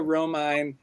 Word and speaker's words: Romine: We have Gabbie Cesarone and we have Sophia Romine, both here.